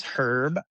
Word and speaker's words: Herb: My name is Herb. The H is pronounced.